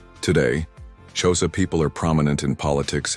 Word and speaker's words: Xhosa: The Xhosa, pronounced Xhosa with a click sound at the beginning, are one of the largest and most influential ethnic groups in South Africa.